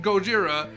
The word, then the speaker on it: Gojira: both called Godzilla and gojuda because it's Japanese mispronounce it and then everyone in Japan's called it God Gojira and we're calling it Godzilla and it's I